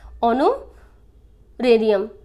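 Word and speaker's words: honorarium: बेटा एच इसमें साइलेंट होगा, जो ऑनर, ये वर्ड किससे बना है, हमारा ऑनर से बना है, ऑनोरेरियम।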